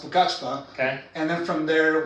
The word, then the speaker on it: Pucallpa: Pucallpa. It's actually pronounced Pucachpa.